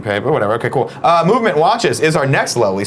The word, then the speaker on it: MVMT: MVMT Watches, that's MVMT, but it's pronounced Movement, was founded on the belief that style shouldn't break the bank.